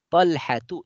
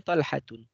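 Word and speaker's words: طلحة: Sehingga kita membacanya Hamzatu, tidak boleh Hamzatun. Talhatu, tidak boleh Talhatun.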